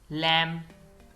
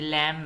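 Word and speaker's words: lamb: date कर्ज सब्बल Latif लैम यह लैम है इसमें भी बी नहीं पढ़ा जाएगा लैम भेड़ का बच्चा क्लाइम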